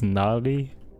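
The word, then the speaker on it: gnarly: you gar or Nar you do the g is silent right when you say that it's narly and also although also tanzine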